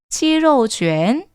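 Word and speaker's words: 鸡肉卷: 치로 쥐엔, 치로, 로 이런 발음들 조금 주의해 주시면 될 것 같아요. 저도 처음 중국어를 배울 때는요. 이게 잘 발음이 익숙하지 않아서 한국어에는 없는 발음이기 때문에 좀 생소할 수 있거든요.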